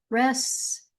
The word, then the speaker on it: restaurant: Privi ledge e privy privy privilege becomes privilege privilege rest our ant no restaurant or without the t on the end restaurant.